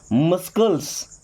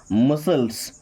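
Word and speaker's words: muscles: मस्कल्स। मस्कल्स नहीं बल्कि क्या होगा? मसल्स।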